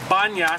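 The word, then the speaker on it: Banias: the site is called banyas snap Anya's da n IAS why he was in the Arab tongue they can't pronounce pee-pee turns into be so retains its name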